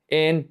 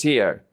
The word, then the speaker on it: he: Remember that the H is silent.